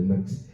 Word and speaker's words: Mx: You know, that is gender neutral pronouns, mix. You know, similar to Miss, it's pronounced as mix.